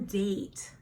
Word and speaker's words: date: Now this is a calendar and there's one date that is circled. You're gonna write date. D. That's a D. A, long A. Date. That's T. And then an E that is silent. Right here we have some hills, we have some trees.